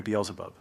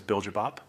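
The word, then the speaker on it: Beelzebub: It is a direct bloodline descendant of the legendary Beelub. Back in Korea, we mispronounced it as Biljab.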